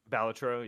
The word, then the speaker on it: Balatro: Then how do you pronounce it? Balatro? Balatro, yeah.